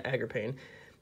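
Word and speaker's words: Agarpain: Agrippain, yeah, I've always mispronounced it. Yeah, Agrippain. Yeah, so basically what he does is, he's just your Ultimate Zulkin in Link Monster form.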